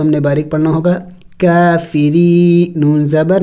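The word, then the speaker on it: كافرين: वक़फ़ आयात है तो वक़फ़ करेंगे और वक़फ़ में हमने इस नून को साइलेंट करना होगा, यानी साकिन करना होगा, काफिरीन। आखिर में नून की आवाज़ निकलनी चाहिए, काफिरीन।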